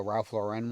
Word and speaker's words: Lauren: I have a Ralph Lauren one.